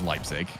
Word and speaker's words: Leipzig: It is Leipzig. Good. Just don't try and pronounce the...